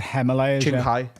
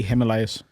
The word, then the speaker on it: Himalayas: You said Himalayas. You said like the bottom of your jeans like the hem. But it's the he Himalayas.